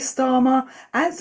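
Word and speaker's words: Starmer: Pressure is mounting on queer star as markets quietly price in growing political instability. We're going to see a huge backlash against Kharma. And of course, Stara rhymes with karma.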